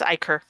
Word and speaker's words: Ichor: Okay, it is Ichor. Oh my gosh, I was right? I thought I was deliberately pronouncing it wrong.